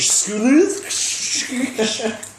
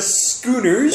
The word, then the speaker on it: Schooners: As usual, I have with me on my left, GM of your Nova Scotia Schoolers.